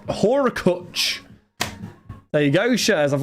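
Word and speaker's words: Hurkacz: Haircut is pronounced Horakuch.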